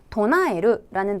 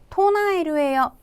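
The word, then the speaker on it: 唱える: 자, 이어서 도나에르라는 동사 우리말에 외치다 또는 주창하다라는 뜻이고요. 발음 주의하셔야 되겠고 토나에르예요. 땡땡 없는 거 주의하셔야 되겠습니다.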